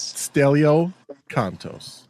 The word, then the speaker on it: Stelio Kontos: Stelio Kontos.